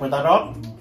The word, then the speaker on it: tarot: Tại chữ đó là rốt ta là đọc tarot. Nhưng mà đọc đúng là tarot.